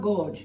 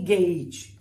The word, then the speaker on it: gauge: It's not gorge. It's written as gorge, but it's actually gauge.